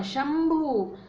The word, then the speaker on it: शंभु: ऐसे ही है शंभु, प फ ब भ म, शंभु, ये जो भ है ये प वर्ग का है और इसका पंचम म है, इसलिए अनुस्वार का उच्चारण हुआ म।